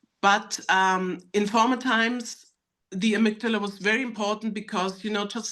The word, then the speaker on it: amygdala: the amygdala.